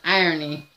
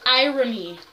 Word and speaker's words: irony: That's irony. I don't mess up though. It's pronounced irony, not irony.